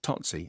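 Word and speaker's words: Tsotsi: is it uh i can't remember how you pronounced this gone t-s-o-t-s-i tootsie totsy there you go that one in class which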